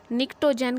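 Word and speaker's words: pnictogen: ठीक है, नाइट्रोजन family को हम निक्टोजेन कहते हैं, ये पी है साइलेंट है, निक्टोजेन कहते हैं।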